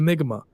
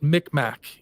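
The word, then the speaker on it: Mi'kmaq: stuff you're actually questioning the history of the migma yeah in the migma which if you guys have ever seen it's spelled it's Mick Mack um Enigma is actually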